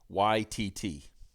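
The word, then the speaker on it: Waititi: Okay, so Raptro says it's pronounced Taika YTT.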